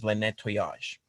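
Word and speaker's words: Le Nettoyage: how you pronounce it because it is a french name um so how do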